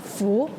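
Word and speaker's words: 福: It's not fu, it's dao.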